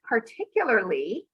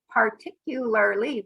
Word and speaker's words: particularly: the different parts of particularly we can count the syllables par tick you lar lee five syllables particularly it's really hard to